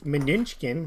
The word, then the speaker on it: Mnuchin: Yesterday we talked about how Treasury Secretary Mnuchin, that's how I say his name, was on CNBC talking about the potential for the U.S.